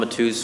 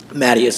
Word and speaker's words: Matus: Unless you're Portuguese. Mattius always comes out.